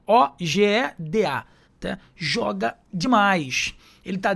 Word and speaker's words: Ojeda: E Ojeda com J, né? Ogeda.